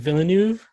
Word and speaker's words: Villeneuve: Yeah, Denis Villeneuve. How do you say his last name, director? Denis Villeneuve.